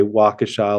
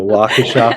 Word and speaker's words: Waukesha: sign as the S, or we say Waukesha like Wakanda forever. So we do Waukesha forever.